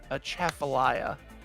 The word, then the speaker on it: Atchafalaya: Well, there's one area in Louisiana that is spelled Atchafalaya. But it's pronounced. It's spelled Atchafalaya. Huh. It's Atchafalaya.